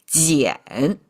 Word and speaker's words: 俭: Useless knowledge now, but all you need to know is together, this person symbol with this qian now sounds like jiǎn.